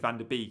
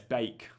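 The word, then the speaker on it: van de Beek: the FPL show, and every time I said van der Beek, he'd WhatsApp me going, "Stop saying van der Beek." So yeah, it's Bake.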